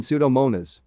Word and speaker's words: Pseudomonas: Only the S sound in PS is pronounced, as in Pseudomonas.